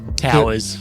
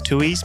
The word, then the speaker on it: Touyz: know a powerful SP it is spelled tues and I'm almost convinced it is tues but my granddad said it was towers and we just sort of stuck with it but I'm not convinced